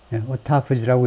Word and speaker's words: autophagy: Several researchers pointed to a process known as autophagy, autophagy라고 읽을 겁니다.